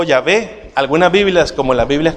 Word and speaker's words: Yahvé: O Yahvé. Algunas Biblias, como las Biblias católicas, utilizan el nombre Yahvé. ¿Se ha fijado? Yahvé, el Señor. Es correcto decir Yahvé, al igual que es correcto decir Jehová.